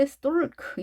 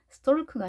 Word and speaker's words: stalk: 자, 이 단어를 보시면 발음기에 보면 L 발음이 없죠. 자, 처음 봤을 때 stalk 이렇게 대부분 읽을지도 모르겠어요. stalk가 아니라 stalk. 자, L이 묵음이 된다는 거. stalk, stalk 이렇게 읽어주시면 되겠습니다.